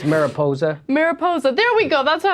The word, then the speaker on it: Mariposa: Mariposa. There we go. That's what I was trying to pronounce.